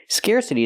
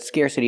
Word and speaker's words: scarcity: Scarcity is the same idea as scarce, but scarcity is a noun. Pronunciation, scarcity. Use the air sound like hair and chair, scarce. Scarcity. We hear the T pronounced like a fast D because it's between vowels.